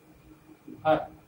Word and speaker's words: घर: घर, घर, घ पर स्ट्रेस है, र हल्के से जाने दिया जाता है, घर।